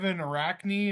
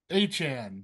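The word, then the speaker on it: Achane: That Devin Arachne, is that how you say his name? Arcany? Whatever. The running back for the Dolphins actually had a really good game. Dude's crazy athletic. A-chain. Achan, that's right.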